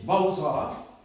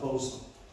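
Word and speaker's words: בשר: la chair se dit Bausra. Ça s'écrit B-A-S-A-R, mais ça se dit comme ça, Bausra.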